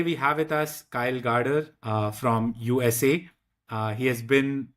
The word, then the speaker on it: Gaarder: my name, is that it's actually pronounced Gaarder. It looks like Quarter. Garter, and it trips up everybody.